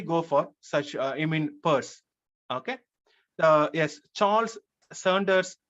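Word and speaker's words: Peirce: so people hardly go for such I mean purse okay so yes Charles Saunders purse probably yes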